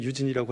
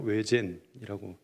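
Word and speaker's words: Eugène: 영어로 읽으면 유진이라고 하겠지만 이 루마니아어로 외젠이라고 읽습니다.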